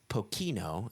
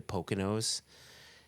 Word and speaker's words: Pokeno: paused there simply because some people say pocino and that is dead wrong and my Shand for the pronunciation of The Distillery I think of the Poconos you know MH uh and so I say Pocono but I but even that's slightly wrong it's like poo poo I